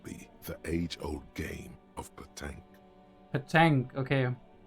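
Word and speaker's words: pétanque: This must be the age-old game of petanque. Petanque, okay. I would say, like, it feels more like it should be pronounced petange, but, you know.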